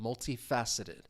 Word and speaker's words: multifaceted: So this way you can actually see the pronunciation and the stress syllable is that third syllable. Multifaceted. Multifaceted. I think even as I say it you can hear that stress.